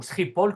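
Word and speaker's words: Schiphol: vous avez euh Amsterdam skipol euh ou stpol comme on le prononce en nérlandais euh qui euh quand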